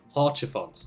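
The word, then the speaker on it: Haurchefant: Ah, that's how you pronounce his name. I haven't known for the longest time. Horchifons, there we go.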